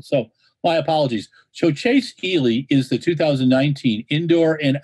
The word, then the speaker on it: Ealey: jason i'm very sorry i called you easily it's chase healy and i like it when